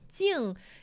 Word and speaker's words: Jing: Jing is Jing in Chinese. Jing, and it's spelled like it's written. The pronunciation sounds very similar to the word quiet.